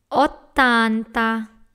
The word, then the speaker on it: ottanta: Tanta, settanta, ottanta, another double T, novanta, cento.